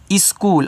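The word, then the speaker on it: school: देखो ये जो आपका एच है ना ये साइलेंट रहता है ना स्कूल में।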